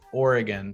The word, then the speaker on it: Oregon: slight very you know variations of the correct pronunciation which is oregon so it's you know think about or o